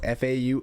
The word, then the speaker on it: faux: I don't know how to say this word fo musicians Fox f a u x I know know faux musicians cuz they're not